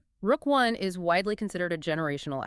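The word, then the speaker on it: Rook I: For you listening, we must explicitly refer to and pronounce this project as Rook 1. The CNSC granted full site preparation and construction approval for NextGen's flagship project, Rook 1. Rook 1 is widely considered a generational asset.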